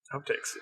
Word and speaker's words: HauptTakes: And we're going to pronounce it like outtake, but it's HauptTake. HauptTakes.